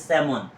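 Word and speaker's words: salmon: সেলমুন সেলমন সেলমন আসলে এটা কিন্তু সেলমন না এটা হবে সেমন এস এল এম এন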